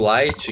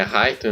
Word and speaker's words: Light: A pronúncia do R no Japão é quase um L ali, então... Não tem do Light, que é Raito no Japão, e aqui é Light?